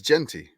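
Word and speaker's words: Jeanty: help me here I know he pronounced his name wrong I did I did I'm afraid to say it oh it's it's Genty Genty yes I was like it's like pants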